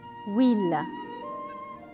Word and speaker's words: huile: Très bien, parce que huile commence par une H muet. Après, il y a la voyelle U.